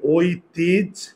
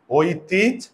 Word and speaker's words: ঐতিহ্য: grudge দেখ ঐতিহ্য খুবই গুরুত্বপূর্ণ এই শব্দের উচ্চারণটা ঐতিহ্য এখানে ওই ভেঙ্গে আমরা কি লিখবো ওযোগ রসই মনে আছে ওই ভেঙ্গে কি লিখবো ওযোগ রসই তাহলে কি হবে ঐতিজ ঐতিজ ওকে খুবই গুরুত্বপূর্ণ একটা উদাহরণ এটা করো তো